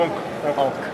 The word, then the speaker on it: Ankh: La prononciation c'est Ankh. Après la translittération c'est différent, mais on dit toujours Ankh.